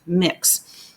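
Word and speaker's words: Mx: and the UK recognizes M X pronounced mix as a gender-neutral title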